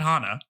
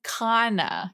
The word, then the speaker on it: Kana: my pronunciation I said Hana you're saying Hana like flower her name is Kana K oh it is